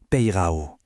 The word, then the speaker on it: πειράω: Ce mot, c'est un verbe du grec ancien, pirao, qui se prononce peirao.